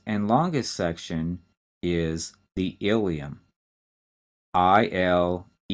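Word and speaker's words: ileum: and the last and longest section is the ilium i-l-e-u-m not to be confused with the bone that's the ilium that's spelled i-l-i-u-n so that's the small intestine and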